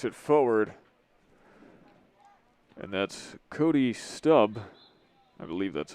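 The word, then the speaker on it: Stubbe: forward and that's cody stubb i believe that's how it's pronounced it's one of those borderline ones s-t-u-b-b-e i think that's stub could be stubby i'm gonna call it stub stubble the one who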